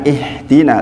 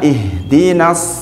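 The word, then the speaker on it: اهْدِنَا: di sini ha Pak, ini bukan ihdina tapi ha itu di sini, ha itu di sini, bukan di sini, bukan ihdina, bukan. Banyak juga imam yang ingin merasa bacanya biar bagus, nah itu keliru. Bukan di dada tapi di ujung tenggorok sini, pangkal tenggorok sini.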